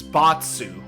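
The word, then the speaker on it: Bartz: Yeah, cuz um the way he the way his name is pronounced in Japanese, it's Batsu. But we actually I I think what happened is I think we localized as Barts cuz they probably figured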